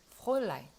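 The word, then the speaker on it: Fräulein: 그래서 이 F 발음은 F 하지 마세요. 그냥 스쳐가듯이 프로일라인 이렇게 프로일라인.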